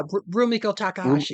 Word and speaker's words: Rumiko Takahashi: Is that how you pronounce her name? Uh yeah, Rumiko Takahashi or Rumiko Rum Rum Takahashi.